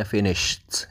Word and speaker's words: finished: Nah harusnya yang belakang itu bukan finishing tapi finished, pakai T bacanya, tulisannya finished tapi bacanya finished gitu ya.